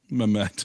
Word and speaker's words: Mehmet: Maymet? How do you say his name? Mehmet.